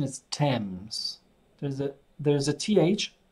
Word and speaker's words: Thames: and the pronunciation is Thames there's a there's a th but the pronunciation is just T and it's the river